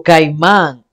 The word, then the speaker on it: Caimán: y esta Este título Caimán por caimando en español que hay más no es así no es una y que lleva y un acento en la a sea una isla una